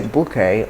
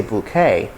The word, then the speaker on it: bouquet: got the word bouquet you can either say bouquet or you say bouquet bouquet bouquet so it's